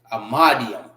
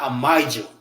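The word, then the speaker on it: Imadyam: Amadium. Not amidium.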